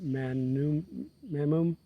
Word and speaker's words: mammon: How do you say that? Mammum? Yeah, mammum.